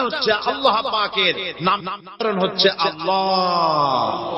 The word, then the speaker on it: আল্লাহ: আল্লাহ পাকের উচ্চারণটা হচ্ছে, আল্লাহ পাকের নামকরণ হচ্ছে আল্লাহ। মুখটা একটু গোল হয়ে যাবে, বলেন আল্লাহ আল্লাহ।